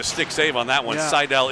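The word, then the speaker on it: Seidell: Sidell is in fact correct. It's s e i d. I just want to make sure I was pronouncing.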